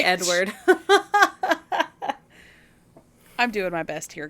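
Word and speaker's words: Eadweard: meets a guy named Edward listen it's spelled e a d w a r d so Edward mybridge say Edward I'm doing my best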